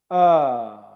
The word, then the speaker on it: were: They're not close, they're not squished in together, they're not flat, they're rounded lips, but they're relaxed. Were.